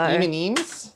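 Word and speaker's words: M&M's: I have M&Ems, as the Aussies would say. So M&Ems?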